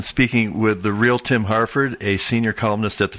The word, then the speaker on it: Harford: I guess the only other thing to mention is Harford is spelled Harford, not Hartford. I'm not a town in Connecticut. Or Harvard.